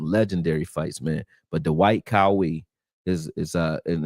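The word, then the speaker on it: Qawi: But Dwight Kawi is is uh and it's spelled Q A Wii is his last name.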